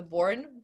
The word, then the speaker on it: Bourne: it's because movies uh the born that's how you pronounce it the bourne movies are